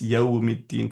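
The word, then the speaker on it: يوم الدين: Okay, and then the next issue that Enes Kardeş had was, why are the scholars emphasizing on the pronunciation, Maliki Yawmiddin, it's Yawmiddin, for example.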